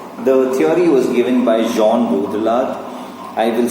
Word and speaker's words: Jean Baudrillard: The theory was given by Jean Baudrillard. I will spell it out, you can Google it, but please remember it's pronounced as Jean, J-E-A-N, right?